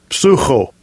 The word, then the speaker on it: psycho: It's spelled psycho. All right, let's see what it says. Strong's G 5594. Psucho.